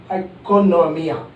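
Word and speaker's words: οἰκονομία: It's not a Latin word, it's not an English word, it is a Greek word, and that Greek word is pronounced as oikonomia. O silent होता है, oikonomia.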